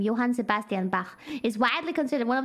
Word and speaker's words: Johann Sebastian Bach: Bach this is how you say his name Johann Sebastian Bach is widely considered one of the most influential